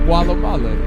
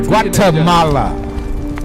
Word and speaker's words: Guatemala: That is not Gualamala. It is Guatemala. Okay. Guatemala.